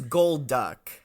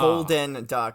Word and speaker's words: Golduck: Okay, so its name is Golduck. Not Golden Duck, and it's not Gold Duck. It's just Golduck.